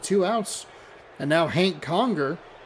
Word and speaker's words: Conger: And now Hank Conger. Conjure. I wasn't anticipating it to be quite so syllable.